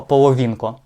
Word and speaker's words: Половінко: Кирило Половінко на і. Я перепитував спеціально куди наголос.